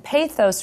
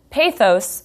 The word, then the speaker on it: pathos: A quick note here, pathos, spelled P-A-T-H-O-S, is sometimes pronounced pathos, but most scholars of rhetoric say pathos.